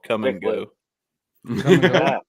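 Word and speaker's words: Kum & Go: We have a gas station chain in the Midwest called Come and Go. Come and go. As a C-U-M? Yeah. No. No, it's K-U-M is actually how it's spelled.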